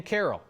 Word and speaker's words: Caryl: Ken Caryl, not Ken Caryl. There is a right and wrong answer there, according to the Neighborhood Association.